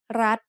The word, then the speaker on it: รัฐ: We pronounce รัฐ with a high tone because of the rule low-class consonant with a dead ending and short vowel makes high tone.